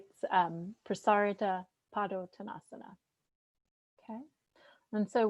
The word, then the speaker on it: Prasarita: flow go ahead um put the emphasis on the second a prasarita prasarita padu tanasana okay and